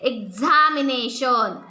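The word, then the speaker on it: examination: box x ray exercise excite आणि कधी कधी ग ला ज झ उच्चार होतो झ म्हणजे एक्झामिनेशन एक्झामपल आणि कधी कधी नुसत झतो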